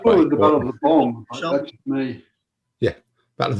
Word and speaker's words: Boyne: just painting some Battle of the Boyne 17th century musketeers, and I've just discovered that they've got a load of flash on their shoulder, which looks like feathers.